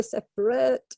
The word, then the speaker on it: separate: Separate. Gnarly. That's a great word. Okay, very good. Yes. So because we don't pronounce that second vowel, often people make a mistake. So yes, really separate, and then E at the end.